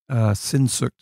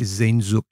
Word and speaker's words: Sehnsucht: One of our listeners wants us to say Sehnsucht. And right. my rebuttal would be, or my reply would be, we don't say Paris, we say Paris. So we're gonna allow that word to be Americanized or anglicized.